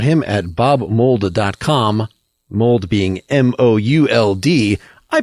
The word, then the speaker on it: Mould: Mould being M-O-U-L-D. I pronounced it Bob Mould.